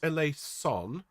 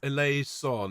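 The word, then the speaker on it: eleison: of extra air okay it's definitely not a lace on but it's a laze sun it's got a little bit more air to it okay those of you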